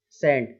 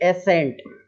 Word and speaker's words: scent: अब है सेंट, एसेंट, ऐसा नहीं बोलना है, एसेंट, एस परसेंट, direct SCENT, spelling इसी तरीके से रहेगी, सेंट, इतना ही बोलना है उसको।